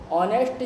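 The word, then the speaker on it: honest: तो जैसे कि example an ऑनेस्ट person, an hour, ऑनेस्ट जो है इसमें एच साइलेंट है इसलिए ओ बोला जा रहा है, और ओ जो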